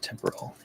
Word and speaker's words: temporal: Is it temporal or temporal? Temporal. Well, you don't even pronounce the O.